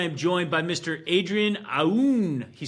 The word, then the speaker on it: Aoun: joined by Mr Adrien aoun he said to the way that you pronounce his name is like a wolf howling at the moon so Mr Adrian is